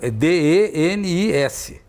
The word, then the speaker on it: Denis: E se escreve diferente, escreve D-I-N-I-Z. O dele é D-E-N-I-S. Então, a pronúncia certa seria Denis, né?